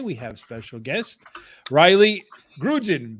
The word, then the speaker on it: Grudzien: Tonight with Shawn and I, we have special guest, Rylee Grudzien, because the Z is silent.